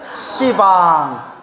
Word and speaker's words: 시방: 어 이거 씨 듣는데 그래서 이제 십자가는 발음을 어떻게 바꾼 거예요 시방 시왕 이렇게 바꾼 거 이제 알겠죠 십자에 그래서